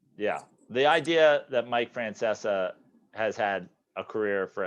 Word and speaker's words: Francesa: there was it was mike francesca is it francesco a friend how do you pronounce this francesa francesa was claiming they're